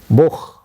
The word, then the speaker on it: Buch: CH is pronounced as H. I don't know how to write it in English. H means it is not like cha in in English. H, k, you may pronounce. For example, ich. Ich. It is like ich. Ich means I. Ich. Or Buch. Buch is book. So Buch, it is more or less pronounced as H, Buch.